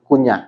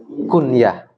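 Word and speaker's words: الكنية: Itu bacanya bukan kunyah, tapi apa? Kunyah, al-kunyatu.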